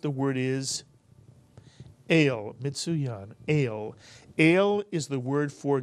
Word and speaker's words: El: The word is a one vowel and therefore a one syllable word. It's easy for you to pronounce it. The word is El, Mitsuyan, El.